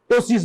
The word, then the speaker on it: ptosis: একটা আইবল আমার বন্ধ হয়ে আছে বা দুটোই পড়ে আছে, ইন দ্যাট কেস হ্যাঁ হতে পারে টোসিস, PTOSIS, পি উচ্চারণটা হবে না, টোসিস বলা হয়।